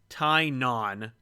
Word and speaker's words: Tynan: So you don't hear any "wa." It's Tynan.